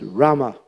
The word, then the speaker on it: Rama: Hari Rama Rama Rama so it's Rama Rama you pull in the sound Brahma Rama it's not like Rama it's drama and You Pull It in Krishna that's good but Rama it's like you pull in it's like it's called guttural sound those who know uh